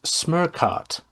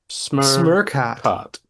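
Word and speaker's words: Smørkat: It is smirkott. Smurkot.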